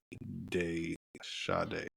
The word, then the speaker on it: De Sade: Spell it. DE space capital SADE. Day Sade. It's a drama, made $1.2 million. The Sod. Like the Marquis de Sade.